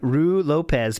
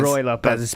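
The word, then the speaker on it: Ruy Lopez: And he doesn't want to face online Rue Lopez pattern players. Oh, yeah. Roy Lopez. Roy Lopez. That's how Talby spelt it, R-U-I, by the way. That's how it's spelled, and that's how it's pronounced.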